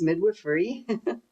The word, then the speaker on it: midwifery: So that's how you pronounce it. It's midwifery.